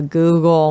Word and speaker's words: googol: he decided to go with A Google a Google which is not spelled like Google spelled g-o-o-g-o-l this answer won him